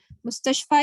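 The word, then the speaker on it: مستشفى: Oh yes, and for Mustashfa, the main thing here is this ya is pronounced like an alif because it has no dots. No dots. When fi, for example, fi has dots, so it is pronounced with an e sound, fi. But without any dots on the ya, it's an a sound. So ala, ila, mustashfa.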